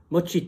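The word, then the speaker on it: Mo Chit: Mochit, hein, faut bien prononcer le mot, hein, parce que Mochit, pas juste cheat, hein, Mochit.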